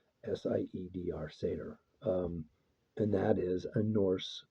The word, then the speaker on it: Seidr: Um, Technically, what I identify within that shamanic family is as a satyr. And you spell that Seidr. Seidr, satyr.